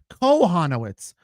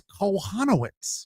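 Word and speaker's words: Kochanowicz: No, it's no Coke. It's Cohanoitz. I've been saying that guy's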